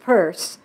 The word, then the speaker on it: Peirce: it with the other, Pierce, pronounced Peirce, blamed most of his problems on his own left-handedness.